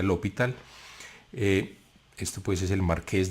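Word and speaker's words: L'Hôpital: que la escriben así, se escribe raro como L apóstrofe hospital, como L hospital, pero se pronuncia L'Hopital.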